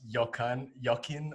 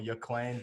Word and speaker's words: Joaquin: Joaquin Buckley, I believe it's pronounced Joaquin or Joaquin Buckley.